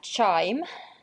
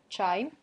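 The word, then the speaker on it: QIIME: but with small M this is pronounced uh chime which again doesn't make any sense but that's the correct pronunciation chime and uh this one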